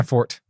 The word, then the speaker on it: forte: ah superman's not my fort yeah me either that's an american pronunciation of forte where would the e sound come from you can't just interject that uh but dustin and